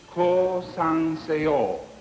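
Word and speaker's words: 降参せよ: This is the way it must be pronounced. Ko-san-se-o. Surrender.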